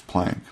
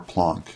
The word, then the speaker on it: Planck: a german physicist max planck or planck it's pronounced both ways planck assumed that energy